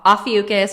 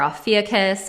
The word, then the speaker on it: Ophiuchus: um okay so um ophiuchus or alfie kiss i've heard it pronounced different ways uh is the 13th